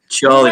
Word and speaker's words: Chorley: I think it's Chorley. I think I heard Chorley. Chorley, my friend.